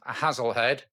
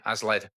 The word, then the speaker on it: Hazlehead: Quick note on pronunciation. The station along from Dunford Bridge was actually called Hazlehead or locally ALED and I found that on the local forum.